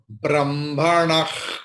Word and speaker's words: ब्रह्मणः: So Brahmanah, Koshosi. Please try with me. Brahmanah, Koshosi.